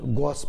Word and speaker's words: gouache: Especially for a poster, we use that gouache painting. Oh, so he continued with the gouache. We pronounce painting.